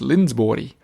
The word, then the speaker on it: Lindsborg: Fun fact, that would be pronounced Lindsborg.